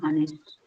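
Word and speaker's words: honest: और ऑनेस्ट tell me ऑनेस्ट ऑनेस्ट एच is silent here honour honour are जो घंटे के लिए यूज़ करते हैं ऑनर मतलब सम्मान के लिए सो वैसे ही जो एच है ना वो साइलेंट होगा यहां पर जैसे ऑनर और आर में होता है सो दे आर ऑनेस्ट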